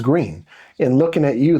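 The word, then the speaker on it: Gruene: which you would think that the per correct pronunciation is like gruin or that's how you would say it. That's how you would say it. But no, they they're flat out. No, it's green.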